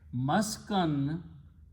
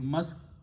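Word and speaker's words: مسكن: We'll just keep, it's pronounced both ways in Urdu, Maskan and Maskun, but Maskan is the right word.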